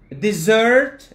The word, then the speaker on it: dessert: The difference, ladies and gentlemen, is here it's a dessert. La كتنطق ماشي S, كتنطق Z. The first one is Z, the second is S.